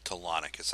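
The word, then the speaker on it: Telonicus: Tonicus, that's how you pronounce his name.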